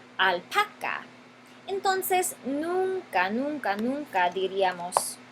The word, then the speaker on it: alpaca: La palabra alpaca tiene su sílaba enfatizada, su sílaba tónica, aquí, la penúltima sílaba, alpaca.